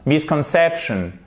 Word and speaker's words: misconception: Misconception, misconception, c'est pas misconception, c'est misconception, c'est pas misconception, c'est misconception. Vous voyez la différence?